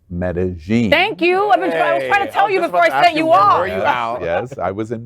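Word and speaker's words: Medellín: lgbtq plus Colombian stars for Medellin and it's pronounced Medellin thank you I was in Medellin foreign didn't work that way it was the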